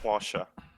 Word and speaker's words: Porsche: Well, to be pedantic, You it's watched- actually Porsche in German. Yeah. I mispronounced it on purpose.